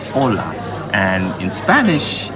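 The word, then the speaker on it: olá: you know Portuguese and to say hello it's Ola and in Spanish it's hola except for an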